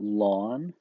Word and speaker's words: ln: and that's just Ln usually we pronounce that lon so lon of 10